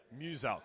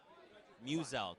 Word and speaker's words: Muselk: Muselk. So it's like Muse and Elk. Muselk.